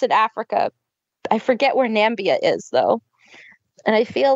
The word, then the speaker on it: Namibia: Namibia. Thank you. Namibia. Thank you, Namibia. Sounds like Zambia, but Namibia, not a place.